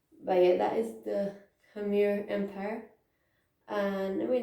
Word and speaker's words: Khmer: like what was it i know how to pronounce that like come here come here camera empire